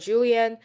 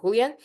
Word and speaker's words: Julian: It's called Julian. It's a beautiful sorry, it's I think it in Spanish it's supposed to be Julian.